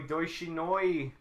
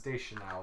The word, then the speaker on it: Deschanel: There she is, Zoe Deutschinoi. Does look like a Katy Is that how you Perry. pronounce her name? No, it's Deschanel.